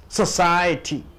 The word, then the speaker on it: society: Society. Society. So you stress on the second syllable. Society.